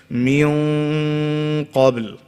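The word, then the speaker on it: من قبل: So you make your mouth into an oval shape before saying the letter. So we'll say like this, min qabl, right?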